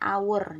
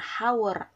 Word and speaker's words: hour: Apakah itu jam-jam adalah our Bacanya awur jangan hower hour itu ya it's Minutes